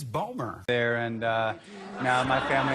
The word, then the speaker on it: Bomer: now everyone calls me bomber yeah and I'm like it's not Chua tell Ejiofor if any of you have that guy with an actus it's two syllables it's five letters it's boomer there and now my